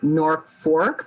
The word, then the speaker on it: Norfolk: So another thing that jumped out at me, because I don't know if we've ever really discussed this, you pronounce it Norfork, but it's spelled Norfolk, right?